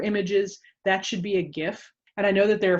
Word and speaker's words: GIF: is said gif or jif it is definitely gif because what it stands for is graphics interchange format graphics hard g definitely gif just had to get